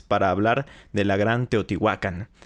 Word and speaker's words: Teotihuacán: muchísima información por cierto ya habrán notado que pronuncio teotihuacán y no teotihuacán esto es porque se supone que si se pronunciara como lo hacían los antiguos sonaría de esta forma y teotihuacán es una pronunciación castellanizada o españolizada se podría decir la verdad